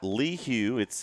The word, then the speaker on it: LaHue: So we got LaHue. That's how the name is pronounced. We've been corrected on the chat. LaHue, there we go.